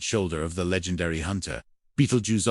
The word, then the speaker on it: Betelgeuse: Beetlejuice often pronounced Beetlejuice is a red super giant star that appears to be nearing the end of its life cycle.